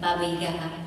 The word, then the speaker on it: Baba Yaga: Baba Yaga.